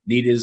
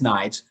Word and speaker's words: Nides: I'll take no credit for that because his name is spelled Nides. Everyone said it says Nides, and they can't get it right. It's Nides.